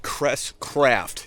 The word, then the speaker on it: CresCraft: Today we are rigging out the Crescent Crest Craft.